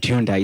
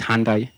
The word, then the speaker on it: Hyundai: Yeah, it's not Hyundai, it's Hyundai and other and other brands.